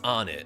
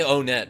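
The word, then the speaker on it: Onett: That's how you pronounce it, right? It's On It. A lot of people say Onet, but that's because they're from out of town, right?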